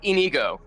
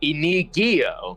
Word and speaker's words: Inigo: I will say for the past couple sessions she has been pronouncing it ino. So adding an extra sound syllable in there, but you know that's my favorite.